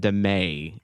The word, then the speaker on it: Damet: our leadership is now Ray and Damet. It rhymes.